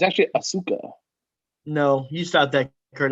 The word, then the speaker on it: Asuka: we've been i'm so sorry guys we've been mispronouncing this the whole time it's actually asuka no you stopped that kurt angle i love